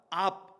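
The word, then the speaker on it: אב: AB, 영어 스펠링으로 말을 하면 AB, 압이에요. 압.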